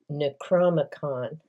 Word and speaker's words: Necronomicon: And the last book, the Necronomicon, finally said it right.